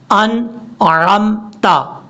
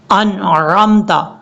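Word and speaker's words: أنعمت: انعمت پڑھیں گے تو نون کے بعد جو عین ہے یہ عین نہیں پڑھا جا رہا، حالانکہ ہم نے اس کو پڑھنا کیسے ہے، اس کا ٹھیک تلفظ یہ ہے انعمت، انعمت، آپ جلدی میں پڑھیں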